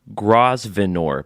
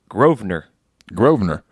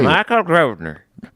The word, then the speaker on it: Grosvenor: So the S is silent? Here's I'll phonetically say what it's spelled like. Grosvenor. But he says you pronounce it Grosvenor. Hey. Michael Grosvenor.